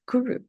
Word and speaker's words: guru: it's a Sanskrit word guru yeah and it has two syllables Guru yeah we hear all